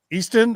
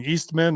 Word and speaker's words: Easton: We covered his sort of smearing of Matt Easton. I always get his name wrong. Eastman or Eastman. What is it, Gerardo? Easton.